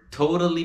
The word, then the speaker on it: totally: We're totally bored. Veja a pronúncia aí de totally. To-ra-li. Totally.